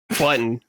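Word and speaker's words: Budden: Button. Button. Button. Why is it spelled B U D N? Joe, but it's pronounced button.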